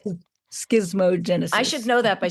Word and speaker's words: schismogenesis: I'm not going to say it right, complementary shimogenesis. How do you say it? Schismogenesis.